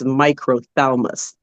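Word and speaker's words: microphthalmos: But if if you look at the pronunciation, it's microalmus.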